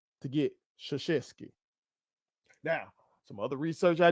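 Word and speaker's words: Krzyzewski: they tell me that the correct way to pronounce this is Mike sheski Mike sheski where in the do you see an S and an H together in that name to get sheski now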